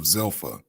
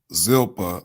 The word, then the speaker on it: Zilpah: sons of billah and with the sons of zilpha uh zilpah are i believe that's how you pronounce it his father's wives and joseph brought